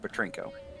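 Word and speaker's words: Petrenko: uh p-e-t-r-e-n-k-o n-k-o like okay rinko but it's pronounced petrinko okay all right so those are two former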